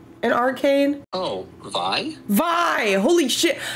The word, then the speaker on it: Vi: I just found out it's not pronounced V it's VI I think I was